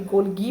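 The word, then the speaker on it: Golgi: और गोल्जी का प्रोनाउंसिएशन भी गोल्गी भी होता है, गोल्जी भी होता है, वट एवर यू लाइक, वो प्रोनाउंसिएशन कर सकते हो आप।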